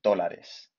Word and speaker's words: dólares: Cuesta 400 y pico dólares. Accent on the O here, so we're going to really enunciate that.